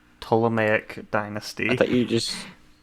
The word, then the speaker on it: Ptolemaic: She was queen of the Ptolemaic dynasty. The P is silent.